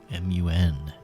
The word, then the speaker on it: Mun: m u n, Mun. I don't know I'll I'm pretty pretty sure it's just pronounced moon with two dots.